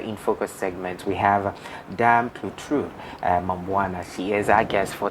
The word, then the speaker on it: DAME-CLAUTRUDE MAMBOUNA: Yeah, but I want you to pronounce it again to the viewers. Okay, I respond in the name of DAME-CLAUTRUDE MAMBOUNA.